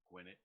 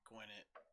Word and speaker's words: Gwinnett: Gwinnett. Is that how it's Gwinnett pronounced?